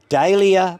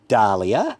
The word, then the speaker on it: dahlia: commemorative name, you should pronounce it as close as possible to the original form of the name and with a Latin ending. So dahlia probably should be dahlia, fuchsia should be fuchsia, and mahonia probably should be mania.